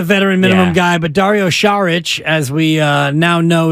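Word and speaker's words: Šarić: he's not a veteran minimum guy but Dario charich as we uh now know is the correct pronunciation is uh that's a guy who might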